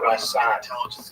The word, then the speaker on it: Ramban: Rambam is pronounced with the emphasis on the first syllable, Rambam, and Ramban is pronounced with the emphasis on the second syllable.